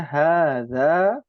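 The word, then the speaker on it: هذا: Alif kecil itu menunjukkan bahwa bacaannya 2 harokat kalau ilmu tajwid ya. Nah, bahasa Arab juga sama, agak panjang bacanya.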